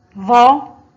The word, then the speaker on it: ظ: ظا حرف الظاء محرك بحركة الفتح ينطق ظا أو الظاء فوقها فتحة تنطق ظا. ظا لا بد من إخراج اللسان عند النطق بها.